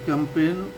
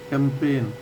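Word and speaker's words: campaign: जो है प्रचार है सी ए एम पी ए आई जी एन कैंपेन तो जब भी किसी अक्षर में एन से पहले जी आता है तो वह साइलेंट रहता है तो कैंपेन एक नाउन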